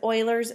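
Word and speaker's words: Euler: the natural base e which is known as Oiler number and this right here that is pronounced as Oiler so it almost looks like it should be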